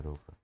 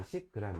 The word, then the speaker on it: 로그: 우리 학생들 이거 10g이라고 읽으면 안 돼요. 로그입니다. 로그. 이러면 이제 10g 이렇게 되죠.